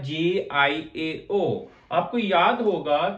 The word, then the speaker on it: 叫: कर रहे थे तो हमने IAO को क्या प्रोनाउंस किया था, हमने पढ़ा था याओ याओ। और जे की जो साउंड होती है ये चे के साथ है, तो ये इसकी जो